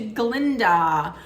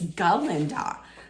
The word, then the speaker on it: Galinda: one who was like can't you pronounce my name right it's galinda so listen to me